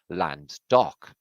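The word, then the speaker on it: Llandough: the highest peak around and its name is lando right it's about but really we pronounce it land dock land dock is that what this place was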